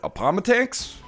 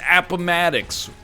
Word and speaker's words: Appomattox: war first five seconds you look at it upon attacks no dummy it's appomattox why because i know